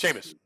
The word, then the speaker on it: Seamus: Seamus.